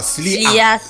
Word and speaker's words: Sly'A: Sly A. Voilà. Que tout le monde. Donc officiel, on dit quoi? Slia, voilà.